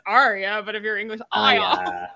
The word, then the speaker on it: Arya: well it kills me the ones that can't pronounce the r in arya's name and they say like it's like that's the moment you realize george r.r martin is not english because he wrote a name like arya you say it as